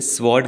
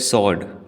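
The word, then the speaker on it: sword: पूरा भरोसा है की मैक्सिमम लोग इसे स्वोर्ड कहते हैं जबकि इसमें व नहीं बोला जाता इसे कहते हैं स्वोर्ड फिर से ट्राई कीजिए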